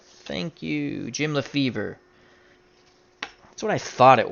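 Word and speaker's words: Lefebvre: DJ John 44 says it's the fee Lefevre thank you the B is silent thank you Jim Lefevre that's what I thought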